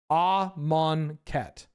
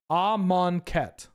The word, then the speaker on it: Amonkhet: All of their branding and their official media has and the pronunciation guides have this set up as Amonkhet, right? Amonkhet? AMK. Amonkhet.